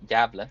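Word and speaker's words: Gävle: my home country, including the name Gavle, or Gavle, as it's pronounced in Swedish, if you have the right letter, which it doesn't actually exist in the English alphabet, funny enough.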